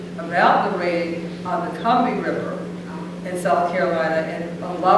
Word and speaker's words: Combahee: It is not Combahee, it's as in Combahee. And the way I found it out is I was listening to this podcast about the raid on the Combahee River in South Carolina,